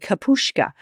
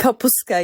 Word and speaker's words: kapuska: Just tell us a little bit about the cabbage rolls with the bulgur, pomegranate molasses, and kapushka. Is that how you pronounce it? Kapuska, yes. Kapuska.